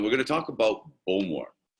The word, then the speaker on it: Bowmore: going to talk about Bowmore. And this one is much easier to pronounce for most of you because it is actually spelt like it pronounced.